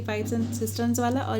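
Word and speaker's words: cisterns: कोई इसको किस्टर्न्स बोलता है, कोई इसको सिस्टर्न्स बोलता है। इसकी सही प्रोनाउंसिएशन है सिस्टर्न्स।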